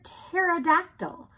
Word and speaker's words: pterodactyl: Did you know that there are some really wacky words that start with a silent letter?